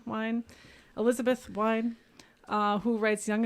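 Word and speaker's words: Wein: I'm not sure how it's pronounced. It's Wien. So Wine.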